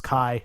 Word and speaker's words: Ki: just insane that this princess's name is Kai and it's spelled Ki everywhere we'll trip your ass